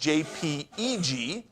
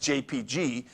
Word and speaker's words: JPEG: stands for actually jpeg is actually uh properly pronounced jpeg not just jpg it became jpg because some file systems only